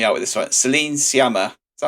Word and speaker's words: Sciamma: Celine Sciamma. Is that how I say her second name? Sciamma, I think. Sciamma, yeah.